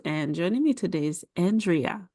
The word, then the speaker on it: Andrea: And joining me today is Andrea. How are you? I am doing wonderful, but it's actually pronounced Andrea.